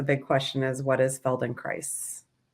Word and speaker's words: Feldenkrais: In fact, we've done, you know, we try to do a service and we say it rhymes with paradise. So, felon cries paradise.